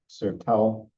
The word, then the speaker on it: Sertão: And the Brazilian pronunciations are not so easy. Sertão, pretty close to it.